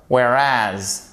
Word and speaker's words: whereas: However, ok, however, whereas, ok, là aussi vous avez l'accentuation sur la seconde syllabe.